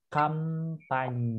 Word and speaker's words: campagne: Champagne bacanya? Enggak, kampanye. Kampanye. Oh, tak kira champagne minum gitu loh. Itu ada H-nya.